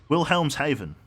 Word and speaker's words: Wilhelmshaven: the English Channel I would say go around Wilhelmshaven perfect pronunciation thank you the t1 could easily be